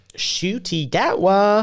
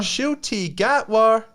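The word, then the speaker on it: Ncuti Gatwa: went on air how do you say it shoy gatwa shoy gatwa oh man well we do have um do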